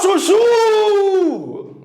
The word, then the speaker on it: chuchu: lado da rua o Chuchu perceba que esse último aqui demora mais tempo sendo pronunciado Ô chuchu ó esse chuchu ai se a última é mais forte eu vou dizer que